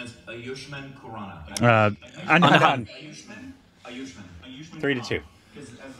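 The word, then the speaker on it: Ayushmann Khurrana: proper pronunciation is Ayushman Khurrana.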